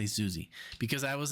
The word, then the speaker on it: Siouxsie: I know you've heard Siouxsie and the Banshees, and Alexia told me it's pronounced Siouxsie, okay? Just say Siouxsie.